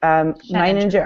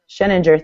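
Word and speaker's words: Sheninger: He says that NMHS principal, who is Eric Meininger, I always say his name wrong too, but Eric Scheninger, thank you, is an expert when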